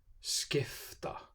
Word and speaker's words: skifta: after the sound puppy before t or s is pronounced like an f skifta skiffstiori g is one of